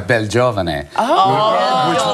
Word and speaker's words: Belgiovane: Yeah, I won't even go into how it should be pronounced, because in Italy they pronounce it quite differently. You know, they go Belgiovane, which actually means handsome youth, no longer potentially applicable.